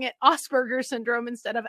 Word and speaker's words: Asperger's syndrome: i started pronouncing it asperger's syndrome instead of asperger syndrome because if i pronounce it asperger's syndrome then less people are like ass burgers i don't know why